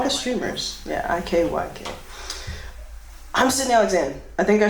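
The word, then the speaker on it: Cydnee Alyxzan: I'm Sydney Alexander. I think I said that, but usually I forget. And it's spelled CYDNEE space ALYXZAN.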